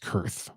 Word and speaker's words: Koerth: I think it's pronounced Kurth. I get that spelling pronunciation wrong. I think it's Kurth.